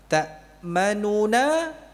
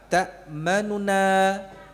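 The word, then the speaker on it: تأمنا: Ta'manuna asalnya demikian, dibaca apa? Ta'manuna. Ya. Nuna seperti orang apa namanya? Tergesa-gesa gitu ya. Ya. Sehingga pengucapan nu-nya tidak sempurna nu atau jelas nu gitu ya.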